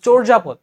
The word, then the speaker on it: চর্যাপদ: commonly আসে চরজাপদ এবং এটাকে আমরা মুখে বলি চর্যাপদ কিন্তু এটা উচ্চারণ কিন্তু হবে চর্যাপদ ঠিক আছে তো এজন্য চ